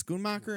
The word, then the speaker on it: Schoonmaker: design sandy powell editing schoonmacher is that how you say it schoonmaker schoolmarker was i write the first time screwmaker it's schoonmacher and scorsessie get it right people but it also